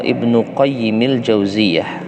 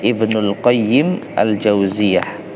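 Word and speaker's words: Ibnu Qayyim al-Jauziyah: berbeda dengan jalan pulang hadits riwayat al-bukhari kolymau Ibnu qoyyim al-jauziyah berkata al-imam Ibnu qoyyim al-jauziyah ini kadang-kadang ada apa namanya salah percaya ada yang membacanya Ibnul qoyyim al-jauziyah ya Ibnul qayyim Al Ghazali keliru karena qoyyim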